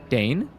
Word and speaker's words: deign: Think of it like rain. Don't put. It's like rain. Yeah, but don't put letters you don't pronounce. That's an ass thing to do. Just don't put the G there.